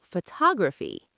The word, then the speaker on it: photography: Now look what happens when we change it to photography. Photography. The stress moves to the second part.